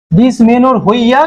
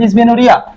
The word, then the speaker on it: Dysmenorrhoea: There is no pathology, while যেখানে secondary ডিসমেনোর হইয়া, কিন্তু উচ্চারণ হয় ডিসমেনোরিয়া, রেজাল্টস ফ্রম রিপ্রোডাক্টিভ মানে জনন সংক্রান্ত জায়গা থেকে ডিসঅর্ডার।